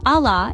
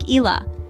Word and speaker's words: Allah: For instance, the word Allah, if mispronounced, could sound like Ilah, which means a god instead of the God.